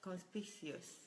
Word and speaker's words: conspicuous: It's pronounced as conspicuous.